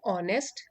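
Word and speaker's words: honest: करने वाला deceptive Antonin opposite word हो गए ऑनेस्ट ईमानदार इसमें ए साइलेंट है ऑनेस्ट ईमानदार ट्रस्ट वर्दी जिस पर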